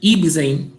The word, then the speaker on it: Ibsen: Aí, Ibsen. Eu acho que é assim que pronuncia o nome desse colega. Ibsen, né? Presente, é Ibsen mesmo, professor.